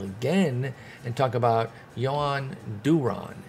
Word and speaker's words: Duran: talk about johan duron it's not duran it's duron just to help all my folks there who want to get make sure they get their pronunciations right like myself so do ron is is what i've been told and i'm going with it not duran he's been insane all